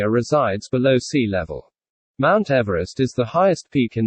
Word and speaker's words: Everest: therefore should be pronounced Everest, not Everest, as per the pronunciation of the British surveyor's surname.